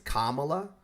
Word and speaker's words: Kamala: time to be respectful her name is kamla or VP Harris and if you're not